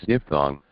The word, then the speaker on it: diphthong: Okay, that is pronounced as Diphthong.